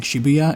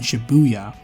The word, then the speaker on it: Shibuya: both are correct actually a shibuya with no emphasis is the way it's supposed to be said natively and it's actually how they say it in the game and the americanized take of emphasizing buu is just us being americans so i kept alternating